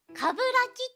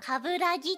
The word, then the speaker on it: 鏑木: を間違えられます鏑木はかぶらきと読むのですが既存の人気キャラクターなどの影響かカブラギと読む人が後を絶ちません知り合ったばかりなら